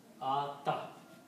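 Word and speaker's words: أعطى: You will leave it writing here but you don't pronounce because yah has a fata on it. So you pronounce the sound of like al if small al if ata. Okay. Because the fata has the sound of al if you can pronounce ata.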